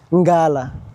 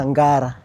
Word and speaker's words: Ngara: So say it like you see, like for example Nairobi, let's say Ngala, or rather Ngara.